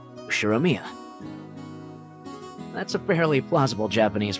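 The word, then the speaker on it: 右代宮: The first part is my family name, Ushiromiya. That's a fairly plausible Japanese pronunciation so far.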